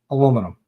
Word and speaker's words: aluminum: Yes, I say it like an American. Aluminum. The Brits and the Australians have it all messed up.